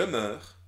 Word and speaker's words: meurs: Je meurs. C'est vrai que tu entends E dans meurs, mais le E s'écrit EU.